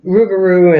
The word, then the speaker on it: rougarou: yeah and and that but here they pronounced it the rougarou and so I asked